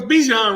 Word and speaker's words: Bijan: the thing no it's Bijan Roberts Bichon yeah yeah yeah it's pronounced like dijono but he nice though